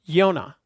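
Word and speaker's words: יונה: name is pronounced yonas in hebrew it is pronounced yonah and in christian literature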